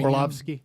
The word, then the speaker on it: Orlovsky: Orlovsky.